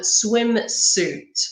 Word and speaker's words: swimsuit: not be able to be careful of the pronunciation of certain words like suitcase and swim suit okay any word which has RIS worden suit